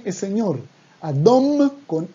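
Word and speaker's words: אדום: Siguiente color, el rojo es adom, adom, también con M al final, adom, y no adon, porque cuando decimos adon, es otra cosa distinta, adon con N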